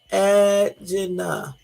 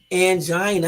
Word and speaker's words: angina: Angina. I said it almost right. I said angina. It's angina.